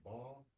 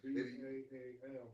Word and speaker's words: Baal: Yeah, B-A-A-L. Yeah. Baal. Because then they split it B-A-A-L or Baal something. That's how you pronounce it.